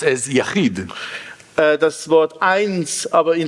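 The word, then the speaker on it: יחיד: It's pronounced as Yachid.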